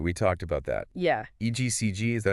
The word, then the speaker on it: EGCG: called egcg right we talked about that yeah egcg is that how you pronounce it yes egcg okay and egcg has been shown to Target